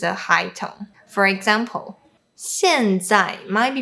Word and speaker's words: 现在: So when Cantonese speakers pronounce the fourth tone, they usually don't drop the sound low enough, therefore sounding like the first tone, which is a high tone. For example, 现在 might be pronounced as 现在。